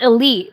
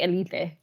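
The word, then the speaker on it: Élite: And it it's spelled Elite, but that's not how you would pronounce it. You would say Elite.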